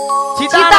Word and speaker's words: চিন্তা: তাই আমি তাহলে আমার আর কোনো চিতা নাই। কি নাই? চিন্তা নয় মাসি, বলো চিন্তা চিন্তা।